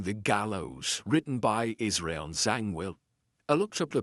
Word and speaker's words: Zangwill: So Zang Philill or something like that but uh it's the internet says Zangwell.